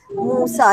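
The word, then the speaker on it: موسى: Nabi Musa Musa mimosin Joe tetapi aja semuanya Musa AS Mutia jatuh kita Alif maqshurah Oke Alifia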